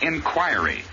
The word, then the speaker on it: inquiry: heir of nonchalance and the word here is inquiry accent always on the second syllable and the i is always long there they are the